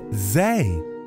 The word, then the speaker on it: Zay: by deborah mills my name is zay it rhymes with say and i'm so happy